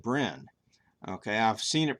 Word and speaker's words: Brenne: I watched a video with Allison, she said Brenne. Okay, I've seen it pronounced Brienne, 2 syllables, but she called it Brenne.